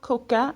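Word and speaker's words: cocas: you say three cokes you'd say tois coca and put a silent S on the end okay pause the video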